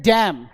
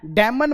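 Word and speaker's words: damn: इसी तरह एम एन आता है, एम एन, तो एन साइलेंट हो जाता है, एम बोला जाता है। इसको बोलते हैं डैम, डैमन मत बोलना, अक्सर जिन्हें नहीं पता होता वो बोलते हैं डैमन, नॉट डैमन, इज डैम, डैम इट, आपने सुना होगा डैम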